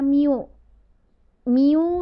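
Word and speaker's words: μ: lagi nih seperti ini seperti huruf n tapi ini dibacanya bukan n ini dibacanya miu-miu dikali m dikali G Nah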